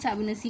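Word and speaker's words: Fibonacci: Word लिखा होगा इसमें फेबोनाची सीरीज़। ठीक है, आप प्रोनाउंसिएशन पे मत जाना, फेबोनाची सीरीज़, फेबोनेसी कुछ लोग भी बोलते हैं।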